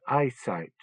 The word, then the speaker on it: ipsit: machine Ministry of Defense ipsit it's pronounced eyesight Susan said impatient with